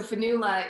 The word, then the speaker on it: Fionnghula: our our cultures um so finula it is it's spelled a very old irish way but um i'm very